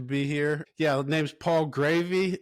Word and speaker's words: Graeve: Yeah, name's Paul Gravy. Last name is pronounced Gravy, just like the sauce.